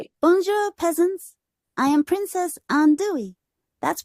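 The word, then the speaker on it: Andouille: I am Princess Andui. That's pronounced Andu e just like the spicy smoked sausage from Cajun and Creole cuisine.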